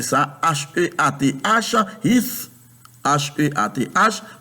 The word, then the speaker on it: Heath: H-E-A-T-H, Heath, H-E-A-T-H, parce que moi, je connais, la E-A se prononce comme I en anglais, et puis T-H prononce comme on met la langue entre les deux.